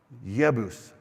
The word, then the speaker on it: Yebus: And so he rose up and went, and they came nearby Yebus, which is how you say it in Hebrew. Remember, because there's no J's in Hebrew.